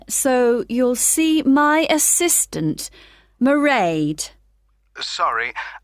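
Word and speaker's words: Mairead: you'll see my assistant morade sorry how do you spell that it's m a i r e a d merade okay got that it's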